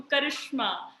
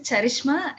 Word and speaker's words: Charishma: So, yes, actually, my name is Charishma. It's pronounced as CHA.